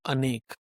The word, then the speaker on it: Anek: It's called Anek. Can you spell that for us for the listeners so if they want to look it up?